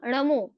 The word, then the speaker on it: णमो: परंतु हम बोल क्या देते हैं? नल वाला जो नल वाला न होता है हम वहां पर न के जगह न उच्चारण कर देते हैं। तो वो क्या हो जाएगा? अशुद्ध हो जाएगा। तो शुद्ध क्या होगा? नमु।